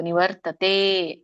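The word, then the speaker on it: ನಿವರ್ತತೇ: ಜ್ಯೋತಿಹಿ ಯೋಗಿ ಪ್ರಾಪ್ಯ ನಿವರ್ತತೆ ನೋಡಿ ಅರ್ಕಾವಳಿ ಎಲ್ಲಿದೆನಿವರ್ ತಕ್ಕೆ ಅರ್ಕಾವಳಿ ಇದ್ರೆ ಮೊದಲು ರ ಹೇಳಿ ಆಮೇಲೆ ತ ಹೇಳಬೇಕು ನಿವರ್ತತೆ ದೀರ್ಘ ಇದೆ ಎಳಿಬೇಕು ಇದೊಂದು ಅರ್ಥ ನಡೆಕೊಂಡು ಬರೋಣ ಏನು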